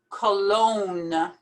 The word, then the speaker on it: Cologne: Cologne. Cologne. Ignore that G completely.